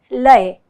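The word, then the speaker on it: laya: my friends in kathak our speed is called lei it is spelled as l a y a layer means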